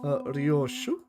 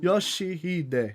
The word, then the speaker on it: Yoshi: Rio. No, that's not how you read those letters. Yoshi, that's how you say it.